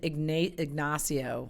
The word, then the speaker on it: Ignacio: It's Ignacio. He's like, Ig. Say Ig. And I go, Ig. And he goes, Nacio.